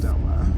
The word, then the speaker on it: Doma: call her my Princess DOMA. DOMA. Okay, because I was like, wait, how do you pronounce that? I'm so effed up. I'm like Domo. Domo. Golly, the amount of times people have said Domo Right?